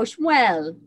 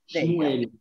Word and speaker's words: Shmuel: No, Shmuel. Shmuel.